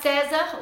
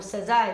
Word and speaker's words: César: E tem a uva César, ou César, eu acho que é César a pronúncia, que também faz um corte pequeno.